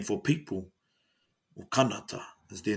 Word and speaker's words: Canada: And then, long story short, found out that Canada is actually pronounced kanata.